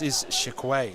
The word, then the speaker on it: Shaquay: I think it's Shakai, boys. Shakai. He's pronounced it on Bunnies TV, and it's Shaquay. Oh, Shakai.